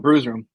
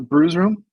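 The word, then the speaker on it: Bru's Room: It's spelled at bruise like a bruise that you get hurt. Locations: Brews Room. Sports. No, it's Brew. It's Brew. BRU. Bravo Romeo right.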